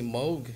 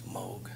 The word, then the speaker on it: Moog: Just this company Moog has just been sending me all kinds of funky shit. I think it's Moog. It's Moog.